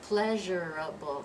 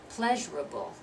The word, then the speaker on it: pleasurable: too much pleasurable huh it's not pleasurable it's we're dropping that second syllable pleasurable pleasurable okay this one of